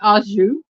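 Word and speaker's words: au jus: y'all Jetro said R for all of you who were saying auu you are correct it is aou I always thought you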